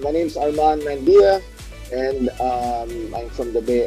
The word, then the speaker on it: Mandia: How do you pronounce it? Mandia or Mandia? Mandia.